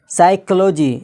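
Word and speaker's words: psychology: एन आया है, तो क्या हो गया, पी साइलेंट हो गया। इसी तरह है साइकोलॉजी, यहाँ पर देखिएगा पी है उसके बाद एस है, YCHOLOGY, साइकोलॉजी।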